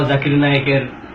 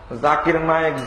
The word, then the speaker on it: জাকির নায়েক: করতে হবে জাকির নায়েক এখানে জাকির নায়েকের নামটাকে বিকৃতভাবে উচ্চারণ করতে গিয়ে জুকার নায়েক বললেন অথচ নাম বিকৃত করা